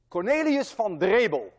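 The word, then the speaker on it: Cornelis Drebbel: Cornelius van Drebel, and I know how to pronounce that name because I'm Dutch.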